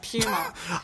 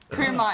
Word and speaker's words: puma: according to Wikipedia, it says these are both acceptable pronunciations in English. Puma and puma. Fine. So that's okay. But apparently it comes from Quechua.